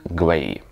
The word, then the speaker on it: Gley: So, there was this last name "Gley", which can be pronounced either like /glay/ or /glee/, depending on your tradition.